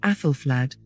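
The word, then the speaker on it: Æthelflæd: what we know about affelflad as the Anglo-Saxons actually pronounced her name is only known at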